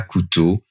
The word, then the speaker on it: Couto: d'amour lecture de passage du livre de Mia Coutau l'accordeur de silence bonjour bonjour alors aujourd'hui j'aimerais